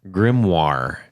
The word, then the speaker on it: grimoire: is called the how do you say that grimoire grimoire uh g r i m o i r